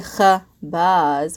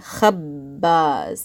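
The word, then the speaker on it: خبّاز: And we're not saying khabaz, we're saying khabbaz. I'm pausing on the B sound.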